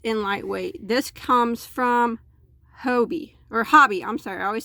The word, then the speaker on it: Hobbii: This comes from Hobbii, I'm sorry, I always say it wrong. Hobbii, H-O-B-B-I-I.